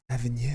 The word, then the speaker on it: Avenir: This is called the Avenir. Avenue. It's a French word. Okay. That's how you pronounce it.